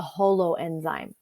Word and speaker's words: holoenzyme: with the cofactor together this is called a hollow enzyme okay and that's spelled like this holoenzyme um is the protein and cofactor together okay and so i like to think of it as like whole like a whole thing but it's spelled like